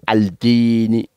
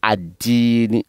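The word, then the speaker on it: الدين: Le Di, il fait partie des lettres solaires. Donc, on dit adini. Donc, les yaoumi, les mi des yaoumi, on les fait rentrer dans les di, sans prononcer al yaoumidin. On dit maliki yaoumidini. Yaoumidini. Maliki, ensemble. Maliki yaoumi dini. Donc on ne dit pas al-dini, on dit ad-dini. On ne dit pas al-dini, mais on dit ad-dini.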